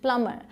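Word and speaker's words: plumber: आई एम अ प्लम्बर, मैंने बताया था एम और बी आए तो बी क्या होगा, साइलेंट, प्लम्बर, मैं एक प्लम्बर हूँ मतलब नलकार हूँ।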